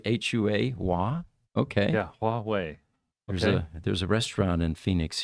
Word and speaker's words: Huawei: He says, Huawei is pronounced Huawei. Well, thank you. Yeah, that's right. H-U-A, Hua. Okay. Yeah, Huawei.